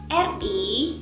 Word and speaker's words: ri: RI itu cara bacanya ada 2. R bisa kita baca R seperti biasa dan kita baca Z. Seperti apa saat kita bilang Asia? Dalam bahasa Inggris, Asia, Z.